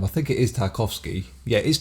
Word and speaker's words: Tarkovsky: to prepare because I'm not sure how you pronounce this director's name I think it is tarkovsky yeah it is tarkovsky yes and uh he's a Russian director and